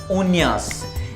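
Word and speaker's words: uñas: Nails को बोलते हैं लस उन्यास। ये याद रखिएगा, ये एन्या है, एन्या।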